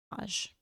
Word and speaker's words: garage: Garage. Garage. Park your car in the garage. Like guh, Linda. The guh. the Linda. But she drops it. Yeah, you're guh. not her, so don't drop The it. guh is silent. Not anymore, it's not. The guh's back. Glinda. Guh, Raj, or Raj. However you want. Raj. In the Raj. You could say garage for all I care, as long as there's Rage. 2 syllables. It's spelled garage.